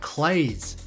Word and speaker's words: Claise: The brook was named after Frederick Claise, who apparently pronounced his name Claise.